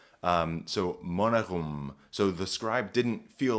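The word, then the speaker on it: monegum: And then thratum is how this word is pronounced. Thorn, R, E-A-T-U-M. Now here we get a really interesting feature. This word is monerum.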